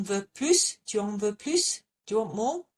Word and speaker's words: plus: Tu en veux plus? Do you want more? Yes, we pronounce it.